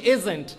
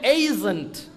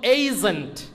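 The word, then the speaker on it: agent: এইটার উচ্চারণ যদি এই দিয়ে করি তাহলে এটা হবে এইজেন্ট, এটার মূল উচ্চারণ হবে এইজেন্ট। আমরা যখন এজেন্টে যাব তখন বিকাশ এজেন্টে যাব না, যে কোনো বুথে যাই এজেন্টে যাব না, আমরা এখন থেকে বলবো এইজেন্ট।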